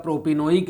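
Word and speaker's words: propanoic: प्रोपेन oic acid है, तो दोनों में प्रोनाउंसिएशन का अलग अलग है, ध्यान देना इस पर, ये है प्रोपियोनिक, ये है प्रोपेनोइक, ठीक है ना।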